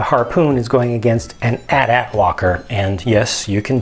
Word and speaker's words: AT-AT: to use the Harpoon is going against an at at Walker and yes you can definitely pronounce it AT-AT if you like but the official pronunciation from